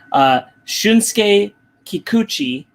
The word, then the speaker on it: Shunsuke Kikuchi: Shunsuke Kikuchi is and I checked that. That's how you pronounce it.